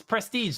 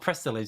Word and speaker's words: Prestige: and then go oh it's prestige not prestilege because there was like that's where the spelling was off so i just for